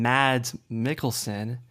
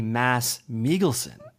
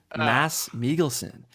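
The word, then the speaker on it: Mads Mikkelsen: people might call him mad mikkelson it's actually mass melen mass melon the D is silent a mass migon are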